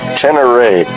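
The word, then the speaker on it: Ténéré: Pakinggan niyo kung anong tama. Yamaha. How do you pronounce it? Super Tener Teneray. Yun ang tamang pronounce ng Yamaha Super Teneray.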